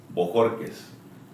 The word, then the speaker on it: Bojórquez: Borquez.